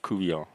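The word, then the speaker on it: court-bouillon: it reminds me Oh, Ku Kian Catfish Kouon. That's a Cajun dish. Oh, is that that you saw the name? Yeah, it's spelled court buon, but it's pronounced Kuian.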